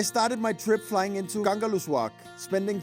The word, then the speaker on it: Kangerlussuaq: Hvordan udtaler man det? Kangerlussuaq. Kangerlussuaq.